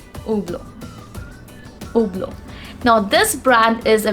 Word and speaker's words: Hublot: it is pronounced as oblong the sound of h is absent in this guys even the sound of t is not there it's simply oblo now this brand is